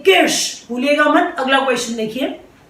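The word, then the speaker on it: Kirsch: नाम है रसल ए किर्श। रसल ए किर्श इनका नाम है, कर्श नहीं है, किर्श है। रसल ए किर्श ऐसे ही प्रोनाउंस किया जाता है, ऐसे इनकी डेथ हुई है एक्चुअल में।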